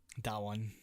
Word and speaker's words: Dawan: It's a Dawan. Dawan. Da, not Day. Dawan. I thought okay.